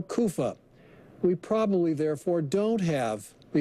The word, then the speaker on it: Caiaphas: Some think it's Caiapha, and if it is, then it's probably Caiaphas. However, that last name probably shouldn't be pronounced Caiapha. It's probably Kofa or Kufa.